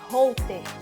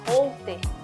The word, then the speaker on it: Holter: Holter. É com H que escreve, alguns pacientes meus têm até dificuldade de pronunciar, Holter, parece um nome estrangeiro, né?